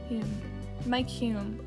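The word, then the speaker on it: Mike Hulme: For Mike Hume, that's how you pronounce his name, Mike Hume, climate change falls into the category of issues which are best dealt within the context of PNS.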